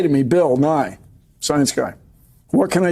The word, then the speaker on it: Nye: Well, that was Bill New Year's Eve. What's that? I'm being told it's pronounced Nye. That was Bill Nye, the science guy. His last name is NYE.